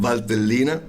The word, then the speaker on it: Valtellina: I can't pronounce it. In Valtellina.